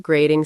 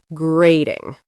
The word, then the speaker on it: grating: The T in the middle of grating sounds like a soft D. Grating.